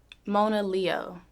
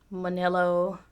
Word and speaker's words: Monaleo: Monaleo, People mispronounce this. constantly. What have you heard? Monello, like Mona Lisa, Mona Lea. It's crazy. People call me all types of shit, but it's pronounced Mona Leo.